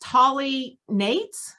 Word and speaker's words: Tali Nates: and you are in is your name pronounced tally nate absolutely you are saying it